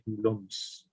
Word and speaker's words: coulombs: So ang pronunciation dito ay coulombs.